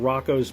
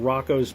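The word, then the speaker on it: Roko: So, I'm talking about Rocco's Basilisk. And yeah, I pronounce it Rocco.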